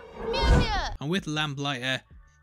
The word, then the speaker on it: Mjolnir: With Thor, it is of course Mjolnir, which I always pronounce wrong. Mjolnir.